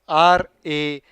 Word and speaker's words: rapport: with the correct spelling r-a-p-p-o-r-t so reports but again the trick is in the silent words rapport yes okay yes yep